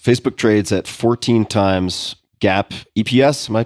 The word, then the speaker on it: GAAP: Facebook trades at 14 times GAP EPS. Am I pronouncing that correctly?